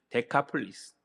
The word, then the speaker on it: 데카폴리스: 제가 잠깐 설명한 것 같은데 데가볼리는 이제 원어 헬라어로 발음은 테카폴리스예요. 데카폴리스.